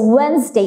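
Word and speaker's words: Wednesday: Weil's and ডে সো ওয়েন্সডে এখানে আমরা দেখতে পাচ্ছি যে এন এর আগে কিন্তু ডি আছে সো এই কারণে কিন্তু এটা আমরাকে সাইলেন্ট করে দিচ্ছি সো এন এর আগে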